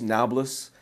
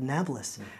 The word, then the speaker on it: Nablus: And because the Arabs of the Middle East can't pronounce the letter P, they call it Nablus instead of Napolis.